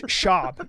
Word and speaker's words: Schaub: to say Venezuelan where's Brandon Schwab from it's shab you have to say his name Schwab I